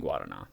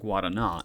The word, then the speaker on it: guarana: Yeah, now it's guarana, but it is guarana, not guarana.